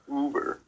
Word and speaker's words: Uber: I think that's how it's pronounced. No, it's Uber.